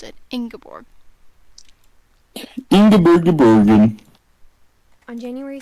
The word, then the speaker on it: Ingeborg: So that's how you pronounce it. Ingeborg.